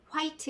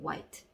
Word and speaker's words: white: it's my 층인 몇명 하얀 오는 하얀색 이란 뜻이구요 화이트 2 이렇게 하시면 안되고 yt 이렇게 해 주시기 바라겠습니다 그래서 여기서 포인트 내에 w 뒤에 h 가 나왔을 경우에 에이지가 모금 인 경우가 있다 자 그리고 계속 말씀들이